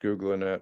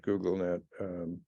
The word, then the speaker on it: GoogLeNet: here or vgd or Googling it which is pronounced Googling not googlenet in honor beyond the and then we're going